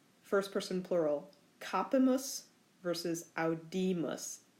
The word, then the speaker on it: audimus: First person plural, capimus versus audimus. Accents on different syllables. Capimus versus audimus.